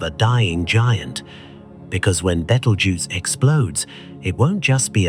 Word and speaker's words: Betelgeuse: through translation and copying, turning into the word we know today, battle juice. Try saying it out loud. Feel how your tongue stumbles over the syllables. Betel juice.